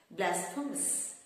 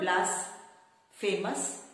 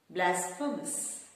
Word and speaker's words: blasphemous: s p h e m o u s blasphemous it's not blas famous it's blasphemous blasphemous blasphemous which means unholy after that we